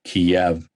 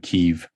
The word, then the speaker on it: Kyiv: I use the Russian pronunciation Kiev instead of Kyiv, which is the Ukrainian pronunciation of their major capital city.